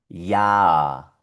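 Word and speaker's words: Jahr: En la mitad vemos una H, pero esta H es muda. Y la A con la R vuelve a sonar A. Y toda la palabra se pronuncia ya.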